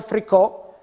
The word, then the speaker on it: fricò: particolarità linguistica, si che come lo chiamiamo in frico, in origine si chiamava fricò, con l'accento finale, dopo ovviamente con l'evoluzione